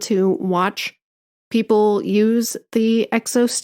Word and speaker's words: XOS: So it's pronounced Exos. but it is spelled XOS.